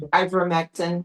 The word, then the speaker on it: ivermectin: hydroxychloroquine, anybody that endorsed that, and the other one I think was ivermectin, if I'm pronouncing it correctly, Ivermectin, yeah.